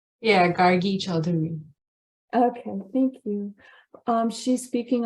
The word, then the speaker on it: Gargi Chaudhuri: We're honored to have Gargi Chaudhuri. Did I pronounce it correctly, your name? Yeah, Gargi Chaudhuri.